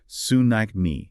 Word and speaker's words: tsunami: In Japanese, it's pronounced with a subtle T at the beginning, but in English, we usually drop it and say tsunami.